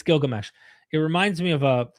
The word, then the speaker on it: Gilgamesh: This was back when um they didn't even know how to properly pronounce Gilgamesh. Uh philologists eventually stopped calling him Edzubar. I kid you not. His name the it's like Edzubar. Not Gilgamesh. They called him Edzubar.